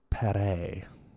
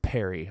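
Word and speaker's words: La Peyrère: data in the 1600s i tried to learn how to pronounce his name isaac de la perez but nah it's perry i'm gonna pronounce it perry isaac de la perry it's super french and my vocal cords don't even work that way so he's perry now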